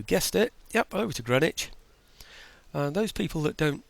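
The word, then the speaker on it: Greenwich: it yep over to grenwich and those people that don't speak English as a first language it's spelled green witch by the way it's just that we call it Grenich um okay those into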